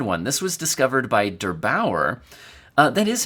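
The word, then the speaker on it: der8auer: This was discovered by Derbauer. That is how you pronounce that, right?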